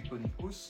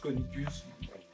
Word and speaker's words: Conicus: prononcez comme vous voulez vous pouvez dire conic conicus au choix alors première constatation au